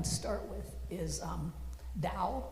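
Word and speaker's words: Tao: A quick one to start with is um Dao, which is spelled T AO, which most of us pronounce as Teao.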